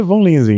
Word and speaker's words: Von Linsingen: O nome, a a pronúncia em português é Von Linzing, hein, né? Mas a pronúncia vem do alemão, né, que daí o V, daí é F, daí vira um fom. Aí é coisa assim. Mas é Von Lins que tá tá de bom tamanho.